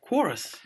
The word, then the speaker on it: Qrious: Quorus. Curious is how you spell it. It's a bizarre one. It's Q-R-I-O-U-S. I can see what they're trying to do. It's like Flickr. Oh, I see. Blur. It's curious.